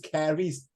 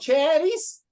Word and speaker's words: Caris: It pronounced Caris. Some people pronounce cherries. Does it look like chair to you?